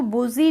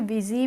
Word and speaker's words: busy: अब ये BUSY है तो हम इसको बुजी नहीं पढ़ते हैं, इसको हम पढ़ते हैं विजी।